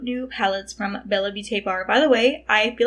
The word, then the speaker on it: BellaBeautéBar: She did confirm it is in fact pronounced BellaBeautéBar.